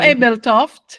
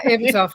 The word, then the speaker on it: Ebeltoft: I know it's hard to pronounce if you're not. No, Ebeltoft. Yeah, Ebeltoft. Yeah, you're right. Ebeltoft, Central Denmark.